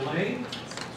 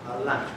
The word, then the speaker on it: Alain: Is it Elaine? How do you say your name? Alain, it's French.